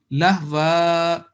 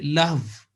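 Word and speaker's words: لهوا: So the first word will be with elongation when we are making a pause. Lahwa, that will be right. We can't say lahv when we're stopping.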